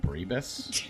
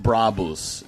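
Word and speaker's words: Brabus: Um, check out uh I started a car modding company called Brabbus. Um, apparently is it is pronounced Braavos is because it's very German. But I I'm sticking with Bravas.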